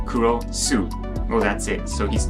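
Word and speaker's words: クロス: why is he called kurosu X in Japanese well that's because cross in Japanese is pronounced kuros Su well that's it so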